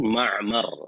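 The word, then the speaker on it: معمر: Wa Ma'mar bi fathil mimain wa sukunil ain Ma'mar, hakada. Ya, bacanya seperti itu.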